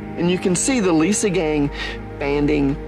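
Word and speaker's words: Liesegang: word mean so he let me know it's pronounced Lisa gang and it has to do with a chemical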